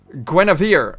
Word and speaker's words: Guinevere: Guinevere. Okay. That's how you pronounce it.